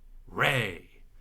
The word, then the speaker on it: re: here dough down here in between that is going to be ray it's going to be ray so way kind of rhymes with ray way is going to be sung as ray today mmm so instead